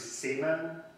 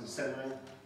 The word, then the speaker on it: Szeman: It's the name itself, however, is of German origin, so I'm going to pronounce it as Imre Szeman, but the Hungarian pronunciation could be I've heard it's Szeman, also Szeman, or so.